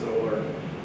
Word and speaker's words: OLRC: So in Ontario, we built the OLRC, the Ontario Library Research Cloud, we tend to pronounce it as OLRC, 11 partners.